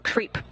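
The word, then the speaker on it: KREEP: a weird component that we call creep and it's spelled k re e e p in sense of pottassium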